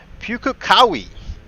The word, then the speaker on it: Pukekohe: currently at the track native to new zealand pukakawi i was told it is pronounced and you can see right there in